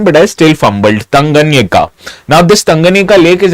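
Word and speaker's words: Tanganyika: Lake tangan uh tanganika I've actually practiced its pronunciation but I still fumbled tanganika now this tanganika lake is actually located in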